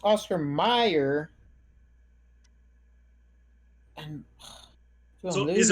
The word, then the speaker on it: Oscar Mayer: didn't But it's pronounced Oscar Mayer.